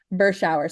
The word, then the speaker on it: Berschauer: Burch is how you pronounce it. Burau. So, like cold shower, that's how I tell people.